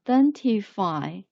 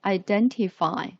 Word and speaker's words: identify: and then identify i identify the letter i pronounced as itself i and this js is put on the second syllable it's put on the second syllable then then identify identify and then f